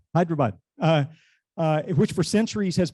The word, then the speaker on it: Hyderabad: from hyderabad india um ben knows how to pronounce that well is what hyderabad hyderabad uh which for centuries has been famous for